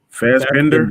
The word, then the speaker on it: Fassbender: But if I was him, I would definitely bring him and Fassbender back as Magneto and definitely. Xavier. I would definitely snatch those two because I think they were Banger. No. Fassbender.